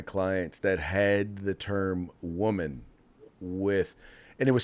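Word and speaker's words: womxn: not what is a woman's they said well I don't know how it's pronounced it's probably pronounced woman just with an X in it and I said oh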